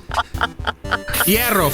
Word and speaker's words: Hierro: Hierro for short. Hierro for short. I like it. I like it. You gotta roll your R's though, otherwise he attacks you.